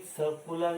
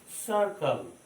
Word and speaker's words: circle: Ball is सर्कुलर in shape, तो इसको क्या बोलते हैं हम लोग? सर्कल। सर्किल नहीं बोलते, सर्किल नहीं होता है। What is the correct pronunciation? सर्कल।